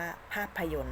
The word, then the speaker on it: ภาพยนตร์: หมาย ทัณฑฆาต นะ คะ เรา ไม่ อ่าน ออก เสียง 2 ตัว ข้าง หลัง นี้ ค่ะ คำ นี้ อ่าน ว่า ภาพยนตร์ ค่ะ ติด ต่อ มา